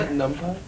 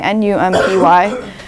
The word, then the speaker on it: NumPy: array is called NumPy, N-U-M-P-Y, which I pronounce NumPy. I don't know if what you're supposed to pronounce it as, but I think NumPy is more fun sounding than NumPy.